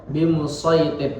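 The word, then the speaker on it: بمصيطر: Ketika tanda sin tersebut terletak di bawah shad, maka lebih afdol diucapkan dengan huruf shad. Bimusaytir.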